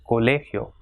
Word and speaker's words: colegio: So it has got 3 syllables, colegio. So the stress will be on le, colegio.